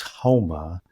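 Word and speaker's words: haoma: etymologically, they don't pronounce the S, they pronounce it like an H. And the sacrament Oh. for Zoroaster was homa.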